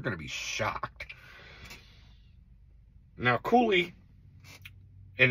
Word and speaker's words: Coulis: to be shocked now coie and it's spelled c u l i s this is the French pronunciation it's called [ __